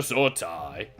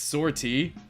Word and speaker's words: sortie: Commander Unit Amber Lynn standing by, awaiting permission to sortie. Squadron 2-3 has reported in. Commander, fuck, I'm doing like a mix of like different voices. Fuck. It's sortie. Please go with sortie.